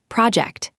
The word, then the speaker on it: project: When it is a noun, as in a work project, stress the first syllable, project. The related verb can shift the stress, but today we need the noun.